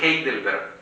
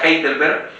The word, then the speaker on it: Heidelberg: se llama catecismo de heidelberg se escribe con nadie al principio un h que suena como j catecismo de heidelberg déjenme